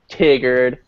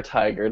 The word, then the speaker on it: Tigard: Beaverton Hillsboro Lake iGo Tigard or tiger however you want to pronounce it I I like Tiger but um and yeah